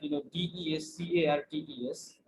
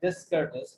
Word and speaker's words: Descartes: ওকে okay so okay, এরপর আমরা দেখতে পাচ্ছি কার্টেসিয়ান linguistics, it is given by Descartes, though it is written like DESCARTES, it seems like Descartes, but it is pronounced like Descartes.